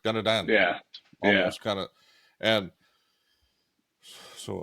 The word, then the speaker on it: Dana Dan: started I was like what's the pronunciation I think it was Dan danad like we were saying but faster like danadan yeah kind of and